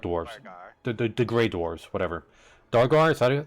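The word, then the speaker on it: Duergar: That is the Drugar city, or Durgar city, the Dark Dwarves, the Grey Dwarves, whatever. Dargar, is that how you say it? Drygar.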